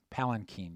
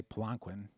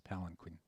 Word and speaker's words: palanquin: so you can say planckwind you know have fun but uh the international pronunciation which most people use is palanquin don't get it in